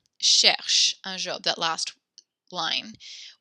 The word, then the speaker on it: cherche: But when a word ends with an E, you do not pronounce that E sound, like écoute or cherche.